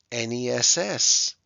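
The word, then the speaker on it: -ness: like an i shipment ness like kindness and friendliness and again it's spelled with an e but it sounds like an i full like helpful and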